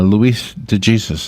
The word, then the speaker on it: Luis de Jesus: Luis de Jesus is in the studio.